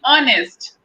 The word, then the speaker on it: honest: Okay, honest. Yes, ma'am. Otherwise, we could have said honest, her sound, Honest. right? But we say Honest. honest. It means H is silent.